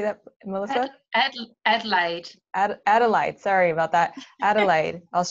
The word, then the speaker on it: Adelaide: Adelaide.